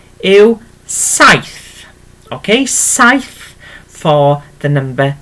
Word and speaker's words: saith: Okay, so 7 yw saith. Okay, saith for the number 7. Okay, and I'll write this down for you. Literally, and I hope that helps underneath. So it's literally saith for the number 7, and then literally pronounced